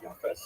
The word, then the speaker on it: Japheth: And I should pronounce that by the way, in the Ashkenazi pronunciation, Japheth.